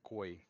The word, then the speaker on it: Khoi: them nowadays want to be called koi. Koi? Yeah. Like the You- fish? No. Well, Spell it the it's same, a but Well, it's a right.